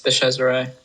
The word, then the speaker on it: DeCesare: Did I pronounce that right, Neo? Yes, DeCesare.